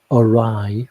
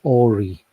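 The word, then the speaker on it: awry: for the longest time there's a English word arai which means if things go arai they go wrong and because I'd only ever seen it in writing I pronounced it AI for the longest time rid n rid nine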